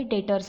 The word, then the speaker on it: debtors: आता मला तुम्हाला एक सांगायचं आहे, हा डेटर्स, ह्याची स्पेलिंग डेप्टर्स आहे, पण इथे ना बी सायलेंट आहे, त्यामुळे आपण इथे डेटर्स बोलतो.